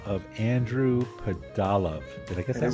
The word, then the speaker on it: Pudalov: So Andy, for today's story, you spoke to a guy by the name of Andrew Padal. Did I get that right? Correct. Correct pronunciation.